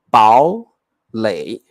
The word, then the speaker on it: 堡垒: 你不要念堡垒，因为很难念，所以你就念成堡垒，2 声堡，3 声垒，堡垒。